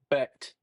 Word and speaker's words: Becht: Is it Brecht? Is it Brecht? Becht.